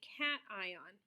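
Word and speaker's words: cation: type of ion that's called a cat ion so again a little Hy in between the T and I a cat ion is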